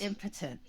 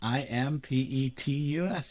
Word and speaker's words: impetus: So, the word of the day is impotent. Would you please spell that for me, please? I M P E T U S. Impetus. Oh, impetus. Okay.